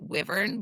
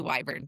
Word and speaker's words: wyvern: By the way, on listening, the narrator pronounces it wyvern, but in looking at it, it's actually wyvern, but she pronounces it wrong. Really? That's hilarious, because I put a post up on TikTok and everybody said it was wyvern.